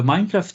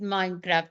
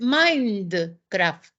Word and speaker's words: Minecraft: teacher I never played Minecraft My Generation you can tell did not have these games yeah so I I even pronoun mispronounced it I called it Mindcraft oh yeah okay from mind and craft I didn't know anything